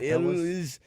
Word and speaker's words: Elwes: Yeah, Elwes.